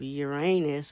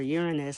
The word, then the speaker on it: Uranus: The energy of Uranus or Uranus, however you want to pronounce it, is prevalent.